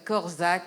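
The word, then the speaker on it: Korczak: de de fin de table ronde c'était Yanous corzac alors ça s'écrit k o r C Z a K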